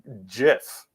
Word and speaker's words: GIF: you doing gabe i'm doing great jess it's pronounced uh jiff g all those crazy people though that's for